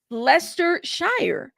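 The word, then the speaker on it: Leicestershire: Lester Shy. That's what Google said. Did Google get it wrong too? Or is it just me? Shy or Sure.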